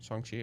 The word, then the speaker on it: Shang-Chi: So in phase 4 we have Black Widow, Shang-Chi, I don't know how to say that. Shang-Chi. Shang-Chi, okay, I did say it right.